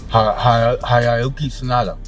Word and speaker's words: Hiroyuki Sanada: Hiroyuki Sanada.